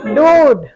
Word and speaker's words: dude: DUDE, डूड, है ना?